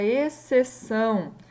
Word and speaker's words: exceção: Então, como eu tenho o X e o C, né? Exceção. Parece que é um som apenas, né? Exceção. Então, aqui esse C, ele prevalece esse som. Então, é como se eu não tivesse dois sons diferentes do X e do C. Então, é um dígrafo.